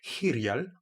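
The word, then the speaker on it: Hiryal: En Irial, ça se prononce différemment. C'est Irial.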